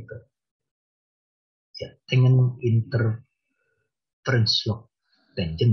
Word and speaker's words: tangent: Tangent ya bacanya tangent.